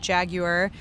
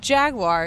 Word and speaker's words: Jaguar: ABT cpra andred DS Pensky Invision racing ERT Jaguar which we learned the proper pronunciation of of Jaguar is Jagua so we learned that Mahindra Maserati